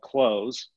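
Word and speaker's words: Cloze: But currently I use a software pack or an app called Close. And it's spelled C-L-O-Z-E instead of S-E.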